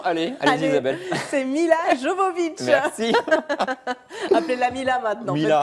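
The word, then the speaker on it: Milla Jovovich: prononciation, allez Isabelle. C'est Mila Jovovich.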